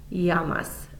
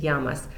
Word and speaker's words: llamas: The first that you'll see here is ¿Cómo te llamas? Notice I didn't pronounce the L sound. Double L's in Spanish make a y sound. So it's ¿Cómo te llamas?